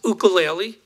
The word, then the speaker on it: ukulele: gonna play a little oka Laila for you and this is the way they pronounce it it's oka laylee I started playing Oakland